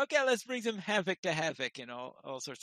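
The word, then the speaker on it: Hafoc: When I do Rohirric, I usually pronounce things as Old English, and of course an F would be pronounced as a V between two vowels. So I just realized at this point that the name is Havoc.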